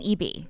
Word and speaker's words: BV: I'm Eby because these fuckers aren't. Like, Eby, whatever. Doesn't matter. it's like you told me backstage. EB rhymes with Backstage. BV. Got it.